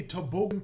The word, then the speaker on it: toboggan: we have day three toboggan trajectory so i learned yesterday that apparently distress is on the second syllable and this is indeed